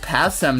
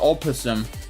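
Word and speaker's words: opossum: It's pronounced passm not opposum vegggers.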